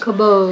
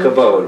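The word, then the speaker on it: כָּבוֹד: Kabod. Kabod, very good.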